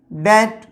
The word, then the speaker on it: debt: तो जैसे कि DOUBT, डाउट, हम लोग इसको डाउट पढ़ते हैं क्या, डाउट, बी साइलेंट है यहाँ पे। DEBT, डैट, DEBTOR, डैटर, कर्जदार।